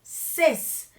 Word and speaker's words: ces: esta casa después tenemos el plural que va a ser ces la s va a pronunciarse si es que enfrente tiene una h o una vocal en de lo contrario no se va a pronunciar por ejemplo cesado estos